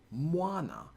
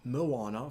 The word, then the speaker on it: Moana: Moana, not Moana for the word ocean.